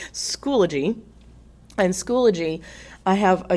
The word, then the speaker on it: Schoology: I thought it said Schoolology whenever I first started, but they schooled me on how to say it. Schoology.